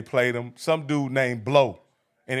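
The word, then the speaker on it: Blough: Some dude named Blow. And it ain't spelled like B-L-O-W. It's spelled like B-L-O-U-G-H.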